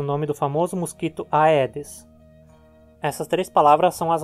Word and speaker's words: Aedes: pronúncia vai ser assim em praticamente todos os outros casos já é que você encontrar a pronúncia adequada é como é então vamos em frente